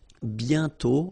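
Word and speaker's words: bientôt: mhm and then okay remember you put this aent circlex but you don't write it oh you sorry you write it but you don't pronounce it and then the final day is not pronounced bio okay and then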